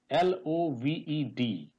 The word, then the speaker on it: loved: Similarly, LOVED is it's loved. It's not loved. So E is silent here.